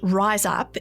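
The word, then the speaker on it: Rize Up: The organisation that Jas mentioned, Rise Up, is spelled RIZE.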